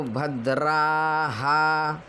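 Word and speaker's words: भद्राः: उस दीर्घ स्वर का मात्रा आ जाएगी तो भद्राहा विसर्ग माने ह तो ह का भी दीर्घ उच्चारण होगा भद्राहा यदि यहां पर भद्रा होता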